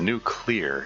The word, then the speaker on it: nuclear: nuclear like come on it's a new clear that's that's how it's spelled anyway uh content you're